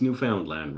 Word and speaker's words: Newfoundland: How could you pronounce Newfoundland wrong? It's 3 words they just jammed into one.